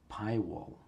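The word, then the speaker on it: pywal: Okay, PayPal, PayPal. Pi wall. I thought I said it wrong. The command itself is called wall. It's strange, but it is Pi wall that you install.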